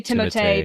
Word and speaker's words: Timothée: His name is it's supposed to be Timothée, but everyone says Timothy.